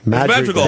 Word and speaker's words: Madrigal: I would think it's Madrigal. Madrigal. That's it. That's what I said. I said it right the first time.